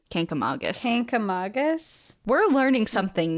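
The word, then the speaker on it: Kancamagus: N into the word the correct way to say it is kink Aus Canam Magus Canam Magus we're learning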